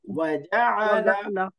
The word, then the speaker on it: وجعل: কোনো টান নেই, অর্থাৎ চারটেই তাড়াতাড়ি। হারাকার উচ্চারণ তাড়াতাড়ি, ফাথা কাসরা দাম্মা, যখন কোনো মাদের সংশ্লিষ্টতা না থাকবে টানা যাবে না, তাড়াতাড়ি।